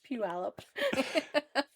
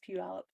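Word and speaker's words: Puyallup: It's Pew Alip. It is spelled pull you up. Yep. But it's pronounced puallop.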